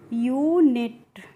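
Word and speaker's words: unit: यू का pronunciation क्या हो रहा है यहां पे? यू हो रहा है। कैसे हो रहा है? यू एन आई टी है। ठीक है? तो यू एन आई टी को हम क्या पढ़ते हैं? यूनिट या फिर फ्रेंड्स आप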